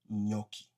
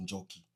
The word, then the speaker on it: Njoki: Wazungu wanamuita Nyoki kwa sababu hawezi pronounce Njoki.